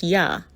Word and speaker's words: Yah: The contracted form of the tetragrammaton Yud-He-Vav-He, pronounced YAH, was in use among the Ewe biblical Hebrew